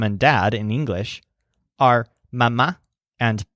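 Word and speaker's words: mamá: dad in English are mama and papa in each case the stressed syllables are ma and pas so you're gonna say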